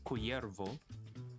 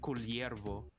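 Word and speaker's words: Kullervo: So when we see a double L in the name, Uh huh. we would always pronounce it as an LY for us, but Oh. for Mexican or Spanish, it's just Y. So Oh. if Culervo was based on Mexican or Spanish name, the Mhm. Mexican or Spanish would pronounce it as Cuyervo, but for us, we would say as Culiervo.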